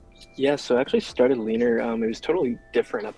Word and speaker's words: Leanr: my entire life so what is leaner it's pronounced leaner correct yeah later leaner leader is basically going